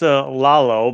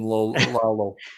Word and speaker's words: Lollo: But it's pronounced Lollo, like lollipop. That's what I thought. Yeah, that's the Irish pronunciation, Lalo.